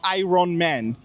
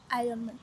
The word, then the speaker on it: Iron Man: Nous, les francophones, on dit généralement Iron Man. Mais sinon, la bonne prononciation, c'est? Iron Man.